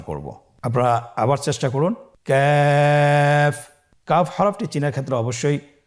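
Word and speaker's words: كاف: তৃতীয় নম্বর হরফটির নাম হলো ক্যাফ। তৃতীয় নম্বর হরফটির নাম ক্যাফ। কাফ উচ্চারণের ক্ষেত্রে অবশ্যই পাতলা করে উচ্চারণ করতে হবে এবং 3 আলিফ টেনে পড়তে হবে।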